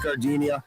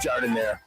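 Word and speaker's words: giardiniera: Don't call it Gardinia. It's pronounced jard in there.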